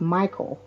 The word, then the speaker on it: Mickel: this is my married name and it's actually pronounced Michael it looks like Mel Michael but it's actually pronounced Michael so I get that all the time so